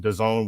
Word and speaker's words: DAZN: That was on DAZN, which rhymes with calzone.